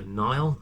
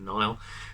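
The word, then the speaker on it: Nihil: turned up uh now i believe that the villain is pronounced the nile i kept reading it thinking it was in the hill but apparently it's the nile um and they are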